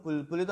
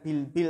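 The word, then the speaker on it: بلبل: Suara burung bulbul itu apa? Indah. Suara bulbul apa? Indah. Ini bukan bilbil tapi apa? Bulbuli.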